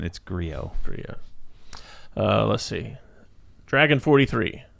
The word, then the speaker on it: Griot: Whatever you're saying, it's Griot.